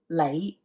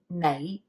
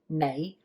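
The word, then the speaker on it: 你: you've learned that the lei means you now that's with the so-called lazy pronunciation typically most properly it's pronounced with an n sound which is knight right so i have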